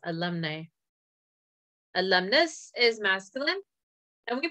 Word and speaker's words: alumnae: Alumnae is pronounced alumni.